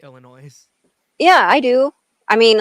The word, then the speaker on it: Illinois: people who say Illinois. No, S is silent. That's true. Or I don't I know. still Just correct people when people say Illinois.